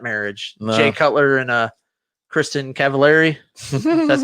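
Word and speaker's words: Kristin Cavallari: Jay Cutler and Kristen Cavallari.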